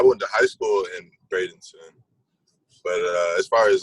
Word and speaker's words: Bradenton: So you're from Bradenton or Bradenton, Florida? How do you pronounce it? Bradenton.